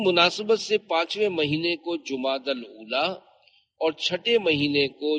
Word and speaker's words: جمادی الاولی: لغت کے اعتبار سے ان دونوں مہینوں کے درست نام اور صحیح تلفظ یہ ہے، جمادی الاولی، جمادی الاخری اور جمادی الاخرہ۔ پیارے پیارے اسلامی بھائیوں،